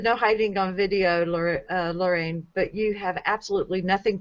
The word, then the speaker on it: Lorane: And it's the second syllable of my name. It's Rain, Lorraine.